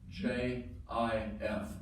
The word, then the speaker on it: GIF: on the screen above it's pronounced j i f not gift sh and that I